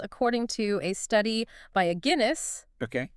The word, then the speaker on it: Aguinis: to a study by Aguinis, Okay. pronounced like the beer, Like the beer?